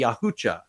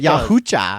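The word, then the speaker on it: Yautja: hunters known as the yucha the yahaa yucha yucha it's spelled yaa but apparently it's yucha yucha I got some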